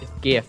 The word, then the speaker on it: GIF: It's pronounced. GIF.